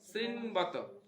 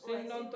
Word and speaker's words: শৃণ্বত: যে ন শৃণ্বত, শৃণ্বত কর্ণ শৃণ্বত, শৃণ্বন্ত নয়, দেখো শৃণ্বত কর্ণপুটে নরস্য জিহ্বা অসতি দ্বার দুরিকা।